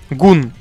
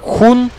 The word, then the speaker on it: Hun: Секрет весь в том, что на английском он пишется как хун, то есть х и буква у и буква н. Буква хун, просто типа слово хун, хан.